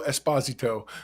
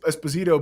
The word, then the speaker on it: Esposito: you know well because everyone used to say Esposito but I heard him in an interview say his name is Esposito and I was like